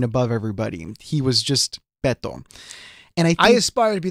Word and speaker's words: Beto: Yeah, because if for Spanish words, if the end of the word ends with either N or S or a vowel, then the natural emphasis goes on the second to the last syllable.